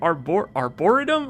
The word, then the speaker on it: arboretum: The problem is which syllable you put the emphasis on. I don't know which syllable to put the emphasis on. Is it tum? Is it arboretum? Okay, it is the okay, all right. Arboretum. Emphasis is on the E.